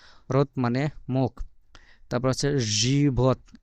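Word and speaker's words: живот: মত যেটা দেখা যাচ্ছে এটার উচ্চারণ হবে ইংরেজি ভি আছে না ভি এর মত তারপর ও তারপরে তে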